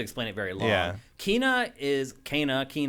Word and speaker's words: Kena: Kina, however you want to say it. In the game, they say it like 3 different ways. By the way, the game says it multiple different ways. She says it Kana. Yep. The little kids you meet early on say Kina.